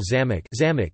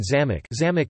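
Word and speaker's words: замок: as to distinguish between homographic words, for example zamok, meaning a lock, and zamok, meaning a castle, or to indicate the proper pronunciation of uncommon words or names.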